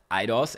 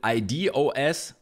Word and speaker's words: idOS: You could also pronounce it IDOS, which makes a lot of sense. But I'm just gonna go with idOS here, like the iPad or the iPhone.